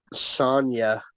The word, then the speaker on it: Sonia: Sonya. It's Oh, pronounced Sonya that's weird pronunciation for it. instead of like Sonic.